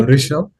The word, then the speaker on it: Rishabh: So we're gonna go with what's the correct pronunciation? It's Yeah. Rishabh.